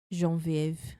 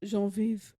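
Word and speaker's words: Geneviève: That's how you say it in French. Genevieve. Genevieve.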